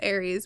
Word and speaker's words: Aries: aries i don't know i said eris it's aries but it's spelled wrong so like he